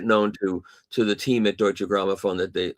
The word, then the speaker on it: Deutsche Grammophon: A lot of the readers have, and they've made it known to the team at Deutsche Grammophon that they, how do you say that correctly? Deutsche Grammophon.